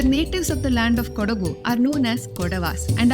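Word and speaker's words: Kodagu: called it kurk because they were unable to pronounce the local language the natives of the land of kugu are known as kodavas and are a martial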